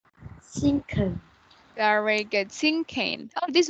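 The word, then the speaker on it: cinquain: Can you say sinking? Sinking. Very good. Sinking. Oh, this one. You pronounce this word as sinking, okay?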